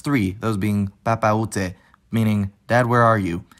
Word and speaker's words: Papaoutai: Papa Ute, which is one of the most famous French language songs of recent years, isn't actually one word. It's three, those being Papa Ute, meaning, Dad, where are you?